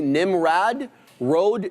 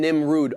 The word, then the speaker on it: Nimrod: It's closer to Nimrad Road than Nimrod.